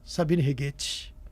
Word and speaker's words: Sabine Righetti: Tem uma pessoa aqui no estúdio hoje, Sabine Righetti. Tá certa a pronúncia?